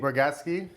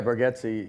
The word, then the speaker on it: Bargatze: Nate Bargatze? Yeah. Did I say it right? Yeah, Bargatze. Yeah. Bargatze. People say Bargatze a lot. I'll be honest with you, I think our family says it wrong.